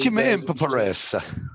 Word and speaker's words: Chimpouras: I feel like every time I say it, I feel like I get it right every time, but I always feel like I want to put one or two extra syllables in it. I think everybody. Chimpouras.